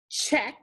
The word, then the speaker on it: check: ch to underline and digraph ck remember the c is silent here and we need a brevi above the e this word was check the next word just